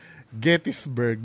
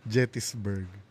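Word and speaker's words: Gettysburg: GPT and also Kuya Bong, it's Gettisburg not Jettisburg.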